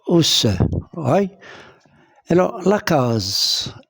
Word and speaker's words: case: Alors, la case S se trouve où? Entre deux voyelles, entre la voyelle A et la voyelle E. Donc, S se prononce Z. Et je lis case.